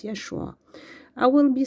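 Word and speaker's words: ישוע: So it's uh we pronounce it Yeshua. Yeshua.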